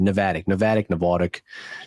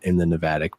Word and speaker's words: Navattic: Navattic. Like you being from Jersey threw me off in the Navattic pronunciation. The amount of times you get like Nevada or Navattic. Navattic.